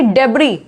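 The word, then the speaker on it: debris: और भी वर्ड्स, बहुत से वर्ड्स होते हैं, जैसे कि डेब्री, क्या है? डेब्री। बोर्गियोस, बोर्गियोस, तो इसमें एस जो है साइलेंट होता है।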